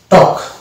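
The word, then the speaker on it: talk: এখানে আমরা এ এল কে তে কি পেয়েছি ওয়াক, আর প্রথম আসছে ট, তাহলে এটা হয়ে যাবে টক।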